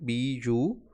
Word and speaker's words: bureau: Look at the spelling. B-U-R-E-A-U. E-A-U. Bureau. Bureaucracy. It is not, spelling is not same as pronunciation, so look at the spelling.